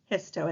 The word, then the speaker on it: histo: root term the new root term is hiso hiso is how you pronounce that and that happens to mean tissues